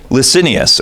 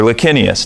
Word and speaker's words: Licinius: But he's fighting a civil war, and he's occupied with a guy named Licinius, or Licinius, depending on how you pronounce it.